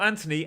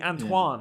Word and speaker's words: Antoine: Not Anthony, Antoine. Yeah. Antoine, sorry. I think it's Antoine. There is an Anthony Robinson there, is there? I think it's Antoine. He's American, isn't he? I think it's Antoine.